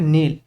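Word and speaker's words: kneel: মানে শোনা হড হড মানে রাখা কে কেপড নীল মানে হাঁটু গেড়ে বাসা এর উচ্চারণ হবে নীল এন এর আগে কে থাকলে কে উচ্চারণ হয়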